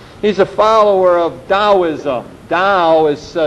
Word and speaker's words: Tao: a little bit he's a follower of Taoism Dow is spelled ta old you do not pronounce that